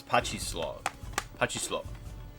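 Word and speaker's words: pachislot: It's like it's not even pachinko. It's patchy slow.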